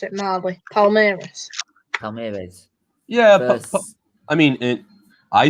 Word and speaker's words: Palmeiras: Palmeiras, versatile young star. Oh, you might want to Is talk that- about this. that's how you pronounce it, Marley. Palmeiras.